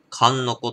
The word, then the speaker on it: 神の河: 濃厚でございます上三川と書いて神の河と読みます 8 a アルコール度数